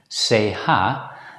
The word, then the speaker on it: CH: The letter combination CH is not always pronounced as ch, there are two main exceptions. The first exception is that when this letter combination appears in French loanwords, or when it's followed immediately by the letter E or O, it's usually pronounced as a consonant sequence sh.